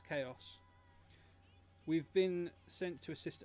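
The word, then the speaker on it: Xaos: It's pronounced Chaos, but it's X as in like the keyblade. So, it's Chaos.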